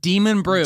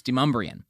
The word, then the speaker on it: Demonbreun: Like, when I first got to town, I called it Demon Brew.